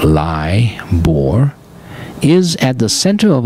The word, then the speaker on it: LIBOR: know what liore is l i b o r pronounced lie bore is at the center